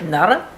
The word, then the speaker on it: Noro: Although one of the Japanese girls at work, she said you pronounce it Nara. Nara? Yeah, well, it's a bit like that. I don't know. Pronounce it how you pronounce it. So I asked Sanai, I said, how do you pronounce it? N-O-R-O. It's a Japanese yarn. She goes, Nara.